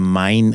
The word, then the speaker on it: Main: the Deep South South the mine era named after the German river main which you might also pronounce Maine if you want and then there's the